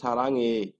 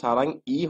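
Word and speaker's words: 사랑해요: সারাঙে, এখানে কিন্তু আমরা কি উচ্চারণ করলাম দেখেন, সারাঙে। এখানে কিন্তু সারাং ই হয়নি, এখানে কি হয়েছে, সারাং এ হয়ে গেছে।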